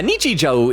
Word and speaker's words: Nichijou: Oak said, yeah, Nichijou is the right pronunciation.